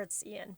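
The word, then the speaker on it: Iain: I'm sure it's Ian, but it is spelled I-A-I-N.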